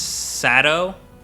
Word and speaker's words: Saito: __ ] but saito his name is spelled saito but they pronounce his sato do you know who